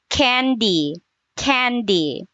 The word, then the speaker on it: candy: Candy. Candy. Yeah. You have to lower your jaw. That is the a sound.